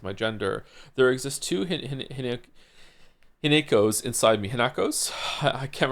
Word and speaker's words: Hinako: Hineko. Didn't they say Hinako at some point though? I remember it being pronounced without the ne.